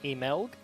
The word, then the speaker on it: MLG: And I forget if you were here when we discussed this, but I've since been told that MLG is actually meant to be pronounced Emelg. I think I was here.